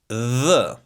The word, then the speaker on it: dh: So the D plus H in Albanian you're going to pronounce it this way. dh the dh, The tongue goes in between your teeth.